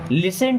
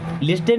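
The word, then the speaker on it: listen: who knows कौन जाने लिसन टू मी लिस्टन नहीं होता यहां पर टी साइलेंट होता है ठीक है लिसन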